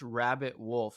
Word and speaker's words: RBBT WLF: So it's pronounced Rabbit Wolf. So I spell Rabbit Wolf without the vowels.